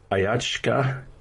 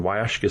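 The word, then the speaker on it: Huachuca: uh from the southwest it's ayachska city library um in ayachaka city arizona and i'll spell that for you it's h u a c h u c a or wayashka city in arizona and that's saturday july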